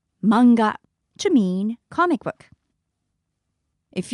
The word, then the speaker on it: manga: it might be pronounced manga but in Japanese we don't have that strong a sound so it's simply manga manga to mean comic book